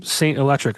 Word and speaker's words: S8NT ELEKTRIC: Saint is spelled S8NT, and then electric has a K for the first C.